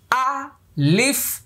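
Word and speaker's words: ألف: শেষেরটা ফায়ের মাস leaf আ leaf আলিফ আলিফ তাহলে আলিফে কোন লম্বা হলো না টান হলো না এবার আসুন আমরা এই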